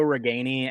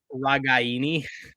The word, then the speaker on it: Ragaini: how it's pronounced but everyone says Nico regani as Nico regani and like his grandma or somebody got like upset with the commentators because they were pronouncing it wrong I'm pretty sure it's like ragaini I don't I don't